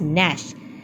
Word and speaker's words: gnash: Here, students, G is silent, so we will pronounce it as gnash. They started to gnash and gnaw.